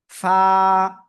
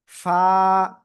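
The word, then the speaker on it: ف: অক্ষরটা কেমন উচ্চারণ হবে নিচের ঠোটের পেট উপরে দুই দাতে লাগান লাগে আমরা উচ্চারণ করব ফা ফা ফা আশা করি ইনশাআল্লাহ সবাই ক্লিয়ার হয়েছেন।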